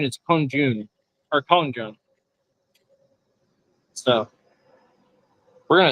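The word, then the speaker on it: 空军: Pronunciation is kongjun or kongjun.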